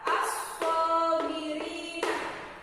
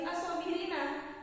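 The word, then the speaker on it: الصابرين: Di sini dituliskan ada kata as-sabirina. Nah, di sini tertulis as-sabirina, tapi di sini ada tanda waqaf. Jadi cara membacanya tidak lagi as-sabirina, tapi as-sabirin.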